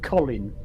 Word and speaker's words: Colin: His name is actually Colin. Yeah. Yeah. So the name we say Colin.